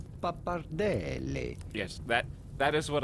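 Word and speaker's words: pappardelle: go about pronouncing it a little background italian pronunciation papardelli yes that that is what i would like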